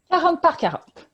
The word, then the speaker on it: 40 x 40: Est-ce que c'est comme ça qu'on le prononce? 40 par 40.